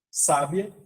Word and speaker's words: sábia: questão também de acentuação mudou a tônica da palavra a sílaba tônica mudou o significado da palavra sábia uma mulher sábia uma pessoa do sexo